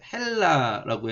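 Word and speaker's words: Ἑλλάς: 엘라스에서 이 엡실론 위에 이렇게 숨표 붙이면은 히읗 발음이 나요. 그래서 헬라라고 해요.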